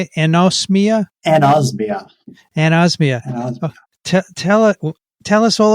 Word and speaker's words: anosmia: Anosmia?